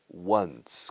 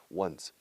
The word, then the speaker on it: once: Pero ojo, se pronuncia once, como uno con un S fuerte de su, once.